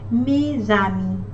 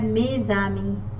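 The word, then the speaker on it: mes amis: to this letter and when we are connecting the letter s it becomes usually we say me which means my in french me zami my friends so when we say mei sami again a is a vowel here and then when we have to connect it e and a are vowel as becomes the letter z mei army i hope that's clear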